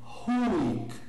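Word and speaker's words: huic: Ou melhor, na pronúncia restaurada, a pronúncia mais correta seria huik, aspirado o H.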